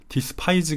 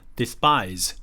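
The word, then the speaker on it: despise: 많이많이 싫어한다 증거한다 그리고 발음 조심 하실 것은 ds 파이지 할 때 여기 스파에서 된소리 나오는거 디스 파이즈 가 아니라 d 스파이스 이런식으로 하는게 더 잘 들었읍니다 눈앞에 스파 1 ws 데스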